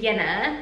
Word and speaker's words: Jenna: win william it is yenna so it is spelled jenna but it is a yenna we pronounced rj's kind